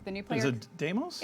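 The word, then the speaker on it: Deimos: coming with heart of Doos so heart of damos brings you the new player is it damos it's damos damos checking I tried we tried we tried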